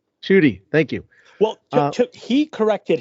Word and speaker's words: Ncuti: mispronouncing his own name, that it's Ncuti, like there's an N sound in it, properly and ethnically.